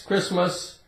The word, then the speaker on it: Christmas: St St Christmas Christmas we say Chris like a man's name Chris and we have mus Christmas it's a holiday for Christians right Christmas the te is silent we have the word whistle